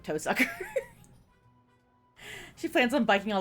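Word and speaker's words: Tohsaka: Her last name Toaka when pronounced in Japanese sounds like to sucker.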